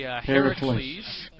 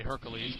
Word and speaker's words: Heracles: Lookout and Intrepid, and we've got Jason, Achilles, Odysseus, and it's actually Heracles. I believe it's I make a mispronunciation and say Hercules, but that's all right.